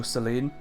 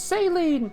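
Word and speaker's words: Céline: Hello, Celine. It's Saline! You said it wrong!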